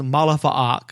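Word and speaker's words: Ma'alefa'ak: One other thing, too, is that this book reintroduces Ma Alifa Ak, as I've tended to pronounce it, as created by Ostrander and Mandrake. Cartoon fans are going to be more familiar with the name as Malifa Ak, as it was rendered in the Justice League Doom animated movie, or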